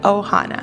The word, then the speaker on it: Ohana: are families present and Ohana is how you say it Ohana all right let's get